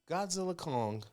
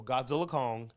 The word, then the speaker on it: Godzilla x Kong: go ahead go ahead Godzilla Kong the new it was supposed to say x Kong but the director came out said you're actually not supposed to pronounce the X so Godzilla Kong Godzilla Kong the new